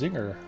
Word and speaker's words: Zyngår: It is Zinger. Not spelled like the snacky cake. Zyngår.